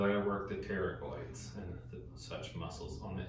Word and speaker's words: pterygoid: Because I got to work the pterygoids and such muscles on the inside. And pterygoid is spelled PT, kind of like pterodactyl. You know, Oh, okay. the P is silent.